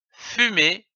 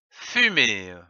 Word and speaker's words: fumée: Et enfin, une fumée, F-U, fu, M-E accent aigu E, mais, que l'on peut prononcer fumée ou fumée.